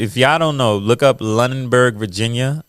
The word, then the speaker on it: Lunenburg: Lunenburg, Lunenburg. Let me spell that for y'all.